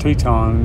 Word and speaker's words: Teton: And as far as the name, Grand Teton, the most common explanation means it means large teat or large nipple. And in French, it's pronounced Teton.